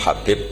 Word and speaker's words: Habib: yang nulis Abi Abdurrahman Habib asulami itu di harakatnya kitab itu ada yang nulis hubb Yang benar Oh gigih yang benar itu bacanya habib habib itu asulami itu ikut